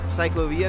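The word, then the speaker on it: ciclovía: We were talking about the CYCLOVÍA, La CYCLOVÍA, that's how you say it in Spanish.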